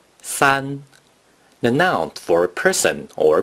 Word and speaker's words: 三: The number three in Mandarin Chinese is pronounced san.